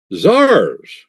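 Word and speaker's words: tsar: Zars. What's Zar? Zar is a Russian word. A Russian word. A Russian per word for what? That's their pronunciation of the word Caesar.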